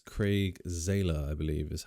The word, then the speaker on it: Zahler: Craig Zahler, I believe is how you pronounce that last name, who a lot of